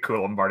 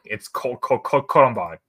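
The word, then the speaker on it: Colombard: Before calling it Coombard and not Columbard. Coombard. I didn't that you called it that. I just like. Now I need to like see what the pronunciation for this one is. Oh no! It is called Columbard.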